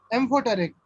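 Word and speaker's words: amphoteric: सर यस, सर वो metalloids के नीचे आपने ए से कुछ तो लिखा है उसका उसे इसका कैसे ये प्रोनाउंस? हाँ एम्फोटेरिक, ओके एम्फोटेरिक लिखो यहाँ पर, ए एम ए,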